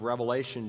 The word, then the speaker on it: Revelation: It's not the book of Revelations. There's no S on it. It's the book of Revelation because it's a single revelation that God gave through his son to